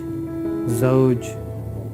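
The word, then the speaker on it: زوج: times with me zo zoj Zoj it's not g jin first one is z and w then jim so pronunciation of z and jim difference z and jim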